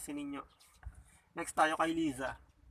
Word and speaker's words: Liza: Okay, yung sa iba naman, kung binibigkas mo tong za na sa lang, okay, dahil sabi nila, Spanish influence, hindi siya binibigkas as za, kundi sa. Okay, pero kung halimbawa binibigkas mo siya ng za, at kung pinapalagan mo